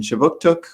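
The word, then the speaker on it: Kjipuktuk: So just before we get started, I'd like to acknowledge that Right Start Newcomer Services conducts business in Chibuktuk, which is how you say Halifax in the Mi'kmaq language.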